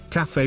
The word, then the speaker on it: cafe: Others said that CAF is an accent thing, and not actually how you spell it. Fortunately, some of them explained this confusion. It seems that only the ones from the south of London call them CAF racers.